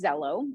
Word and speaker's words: Xello: anymore so what we utilize is zello and so students can access it through their waffle right in their gmail and it's spelled xello as you've seen and so